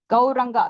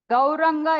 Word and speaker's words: கௌரங்கா: உச்சரிக்க வேண்டும் கௌரங்கா கோரன் இப்போ பாரினஸ்கல்லாம் எப்படி சொல்லுவார்னா கௌரங்கா அவங்களுக்கு சொல்ல தெரியாது அப்ப கோ அப்படின்னா போ ரன் அப்படின்னா ஓடுறது அத இங்கிலீஷ்ல வந்து கோரன் கோரங்கா கோரங்கா கோரங்க அப்படின்னு சொல்லி அவர அவங்களுக்கு